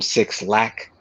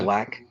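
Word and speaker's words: Blxst: artists like her, um, Black, which is spelled with a six, where people call him Six Lack, but it's Uh-huh. Black.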